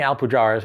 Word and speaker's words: Alpujarras: can't pronounce the name we're saying alpu jaras we're assuming that that's how you say it because it's about the Arab Revolution and that it's not the Spanish version like alpu haras or something like